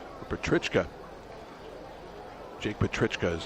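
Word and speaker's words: Petricka: Not Petrika, Petritka. Petrichka. Jake Petrichka is how it's pronounced.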